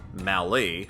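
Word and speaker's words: Mallet: is referred to as a Mal with Mali like Valley being the most common pronunciation with the creation of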